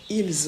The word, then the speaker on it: ils: pour faire la liaison on ne prononce pas ce s donc on prononce de la même manière que il au singulier elle c'est pour parler